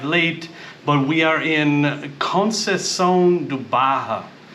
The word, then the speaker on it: Conceição da Barra: dark we arrived late but we are in cones duaja it's how you say it it's like the